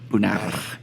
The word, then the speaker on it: Bonner: Nah, Is it the R roll? Do you roll the R? Bonner. Nah. I wish I was French, but no, it's just Bonner.